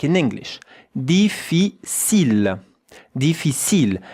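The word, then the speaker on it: difficile: And the e at the end. You don't hear it like most of the word. Yeah. You know in French that ends with an e. Deficil. Look at how to pronounce it. Really easy. Three syllables.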